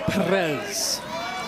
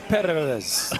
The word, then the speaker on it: Perez: Eduardo Perez. Nice, even though you don't have to roll it on the Perez, but I like that you can.